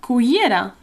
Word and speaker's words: cullera: No, una cullera. Yeah, it's got, again, that double L, y sound, which is quite difficult.